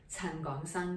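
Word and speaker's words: 陳港生: Gong is like Hong Kong, and also Gong, Gong Ye. Gong is speak, a different character but the same pronunciation. So Gong, and then Sang, like Sangwood.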